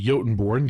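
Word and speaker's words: Jotunborn: Starting off with the one new ancestry, the Yotenborn. Yes, that J is pronounced with a Y sound.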